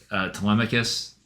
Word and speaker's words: Telemachus: Yeah, who were you saying on the way home that you were glad that they pronounced the name correctly? Oh, Telemachus.